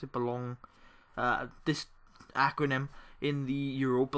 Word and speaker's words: Boulogne: So we played Boulogne, I think that's how you pronounce it, Boulogne, this acronym, in the Europa League.